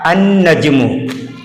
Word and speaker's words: النجم: لام پڑھا گیا، الولد۔ جبکہ یہاں پر دیکھیں نجمن، جیسے ہی ال لگایا گیا تو النجم نہیں پڑھا گیا، یعنی لام کا تلفظ نہیں ہوا، بلکہ نون جو ہے اس نون کے ساتھ حمزہ کو ملایا گیا النجم، تو یہ حروف شمسیہ